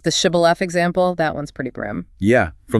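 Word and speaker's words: Shibboleth: Like the shibilaf example. That one's pretty brim. Yeah. From the book of Judges. Basically, it was a password. The Ephramites couldn't pronounce the she sound. They said cibilith.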